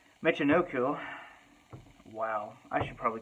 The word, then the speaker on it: Michinoku: tuck him in chicken ooh I did not pronounce that right Michinoku oh wow I should probably cut that out